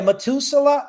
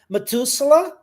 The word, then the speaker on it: Methuselah: I don't know in English how we pronounce that. The guy that is the Yeah. Methuselah.